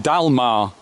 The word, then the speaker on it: Dagmar: Now, the dominant male giraffe at Chester Zoo is called Dalmar, even though it's spelt Dagmar.